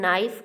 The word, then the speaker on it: knife: In knife, K is the silent letter.